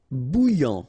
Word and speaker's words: bouillant: Bouillant, final T not pronounced. A and together, remember, nasal, en, okay? And then here you get bou, alright? And after that you get this yan, okay?